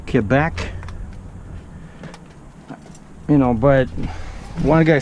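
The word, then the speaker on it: Québec: all the time well because Quebec is in French it's the French way of saying the name of the province and I'm speaking English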